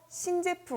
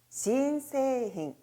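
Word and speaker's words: 新製品: 세이힌은 모음 이 길어 요 . 앞 에 " 새로운 " 이라는 글자 를 붙여서 " 신세이힌 " 을 함께 읽어 봅시다 . " 신세이힌 " 이라 고 발음 해야 합니다 .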